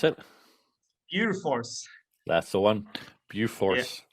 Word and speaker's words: Bjurfors: How do you pronounce it? Bjufors. That's the one. Bjufors. Bjufors is basically in the top three, within the